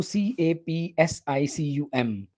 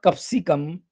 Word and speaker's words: capsicum: process moving on to c-a-p-s-i-c-u-m not capsicum it's capsicum capsicum capsicum it is one of